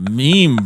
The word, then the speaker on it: meme: who I can't stand it's the pronunciation the pronunciation sorry of meme is fr FR calls it a mem what and I'm like just like does he also say GIF I'm like it's a meme bro it's like no it's